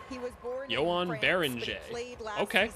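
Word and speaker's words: Joan Beringer: With the 17th pick in the 2025 NBA draft, the Minnesota Timberwolves select, Yoan Banji from Stressport, France, and the Olympia Club. Is that how you pronounce his name? Whoa. Yoan Baran, now we know how to pronounce his name.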